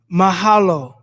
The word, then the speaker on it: mahalo: It's pronounced mahalo. Okay, mahalo.